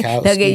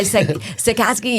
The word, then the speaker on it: Sachkowsky: Sachkowsky. Yeah, Sachkowsky.